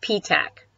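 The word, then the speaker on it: Petach: It's pronounced P-tac.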